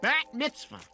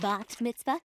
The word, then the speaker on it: Bat Mitzvah: Ooh, a bat mitzvah. I think it's pronounced bat mitzvah.